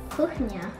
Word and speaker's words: kuchnia: Kuchnia. Kuchnia. Very good pronunciation.